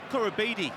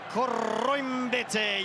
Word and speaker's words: Koroibete: Test match rugby, Marika Koroibete is the way it used to go. Now Marika, on his own say-so, wants the surname pronounced with that Fijian touch, Andrew Mertens, and thusly it is Marika Koroibete.